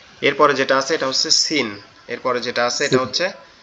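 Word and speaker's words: س: এই সিনটা কোথা থেকে উচ্চারণ হবে? সিনটা হচ্ছে আপনার জিহ্বার আগা সামনের দুই দাঁতের গোড়ার সঙ্গে লাগবে, আগার সঙ্গে লাগবে। জিহ্বার আগা সামনের নিচের দুই দাঁতের আগার সঙ্গে লাগবে। Scene scene scene scene scene scene.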